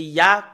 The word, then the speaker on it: Yah: Voilà le Yod et le He, c'est Ya, comment on le prononce.